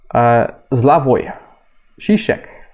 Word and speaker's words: Slavoj Žižek: Which essentially, and I've been talking about it before on the podcast, Slavoj Žižek, apparently this is how you pronounce him, modern day philosopher, actually pretty prominent